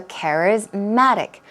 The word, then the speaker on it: charismatic: and it becomes charismatic so charismatic the stress goes on care as well but a stronger stress goes on Matt charismatic charismatic okay means